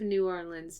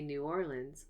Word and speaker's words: New Orleans: word Acadian because of New Orleans diversity fascinating dialects and accents have evolved there are even several pronunciations of the city's name you can say New Orleans like me or New Orleans New Orleans or New